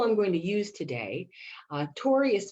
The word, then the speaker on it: torii: my inspiration i saw the image of a tory gate and so a tory gate is something you may recognize from japan and that's a symbol i'm going to use today tori is spelled t-o-r-i-i and this is a special sacred